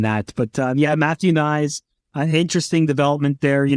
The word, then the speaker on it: Knies: that and Matthew nice you mentioned nice rhymes with sides this is where we